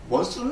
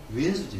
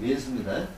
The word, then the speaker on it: 원수: 원수는 아니죠. 왼수지, 왼수. 우리가 이제 이런 것들은 이제 우리 할머니들의 발음을 들으면 정확히 할 수 있어요. 근데 우리 이제 젊은 사람들은 요 신식 교육을 받았기 때문에 그걸 잘 모르는데 저 제주도 가면 또 잘 알 수 있죠. 그래서 왼수입니다.